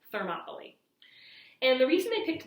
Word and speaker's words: Thermopylae: in this place called Thermopylae. It's not spelled like Monopoly, the game, but it's pronounced that way, Thermopylae.